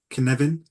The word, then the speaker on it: Cynefin: it's spelled differently, but I think it's the proper pronunciation, I think, is Cynefin.